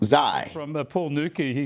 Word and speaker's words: Xi: the next one was x i pronounced zai from paul newkey he